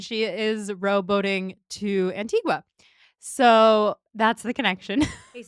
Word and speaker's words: Antigua: How did I have to find this out by watching a a girl row boat across the Atlantic to Antigua?